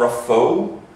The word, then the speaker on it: Raphoe: So there's a place in Donegal called Raphoe, right?